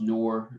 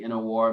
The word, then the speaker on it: Nur: to say you know my name is spelled n-u-r um it's pronounced noor i like to say nor my parents who i